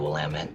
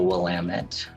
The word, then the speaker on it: Willamette: It's got dozens of pronunciations that are not the way it's pronounced. And people will spot that you're relocated right away when you pronounce it wrong.